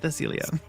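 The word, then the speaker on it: Thesilea: thilia your coffin Randall who's that Pokemon it's thilia it's bigach you um okay so I don't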